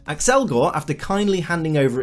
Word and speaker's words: Accelgor: known as accelgor and yes accelgor is the correct pronunciation since it comes from the word accelerate which means to increase in speed accelgor after kindly handing over